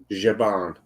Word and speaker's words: Zhaban: Jaban. Jaban. Je. Like if it's a J. Jaban. I know, they should have just spelled it with a J.